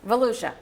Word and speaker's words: Volusia: Volusia.